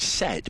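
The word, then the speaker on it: sett: as its home or pronounced the same as its home a badger lives in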